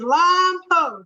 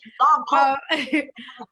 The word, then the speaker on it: Lompoc: It's Lompoc. It was literally Lompoc.